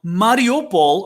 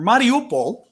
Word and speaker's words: Mariupol: but absolutely horrific um mario paul or mariupol i'm not i don't know i pronounce these things as best i can having study russian and speaking greek because the alphabets are actually very similar but so i'm going to say it's mariupol you might have heard